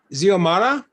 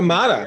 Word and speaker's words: Xiomara: Well, not young anymore, but I think how do you pronounce her name? Xiomara. Xiomara Fortuna, Xiomara.